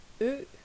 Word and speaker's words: ø: Something like it's the ø that bothers people because you don't have that letter. I thought it was the D. So we're gonna take it another time. Let's pronounce ø. Try say it. Ø.